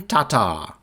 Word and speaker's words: Tatar: in the world Kristen Tatar Tatar there's um I think you emphasized the first syllable more so it's Tata I'm trying to say